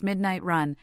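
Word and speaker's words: 12AM:RUN: store in Las Vegas called 12 am run pronounced midnight run as part of the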